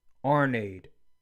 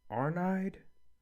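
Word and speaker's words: Arnheid: Arnade. Arnide? I think it's Arnide. I think that's how you say her name.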